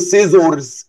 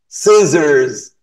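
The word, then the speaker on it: scissors: بص يا قلبي. سيزرز. ما بفتحش بوقي خالص عشان الناس اللي بتقول سيزرز. نو. بص. سيزرز. بوقي مقفول وبفتح بس كده كأني سمايل.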